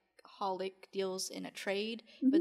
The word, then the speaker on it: xxxHOLiC: do we have a holic which is one of my favorites um it's actually spelled like xxxholic the Japanese like throwing random X's into things and they're silent yeah like Hunter Henry